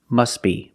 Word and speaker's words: must be: If you separate the words and you pause between words, then you could say must be. But if you link the words, you pronounce it must be, must be. The T is silent because it's between consonants.